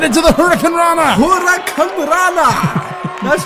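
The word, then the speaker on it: hurricanrana: Hurricane Rana. That's how it's pronounced, John Greed.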